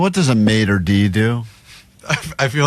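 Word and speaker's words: maître d': Maitre d'.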